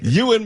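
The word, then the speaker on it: Ewan: H I always like how you cor correct me on uh Ian McGregor's name. What you mean as opposed to Euan?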